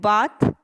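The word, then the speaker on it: bathe: Actually मैं आपको remind करवा दूं, ये जो वर्ड है ये बाथ, जब हम आसमान के नीचे नहाना होता है तो इसकी प्रोनाउंसिएशन जो है वो बेथ हो जाती है और इसके पीछे ई भी आता है। तो कॉमनली हम बाथ कहते हैं, तो मैंने इसलिए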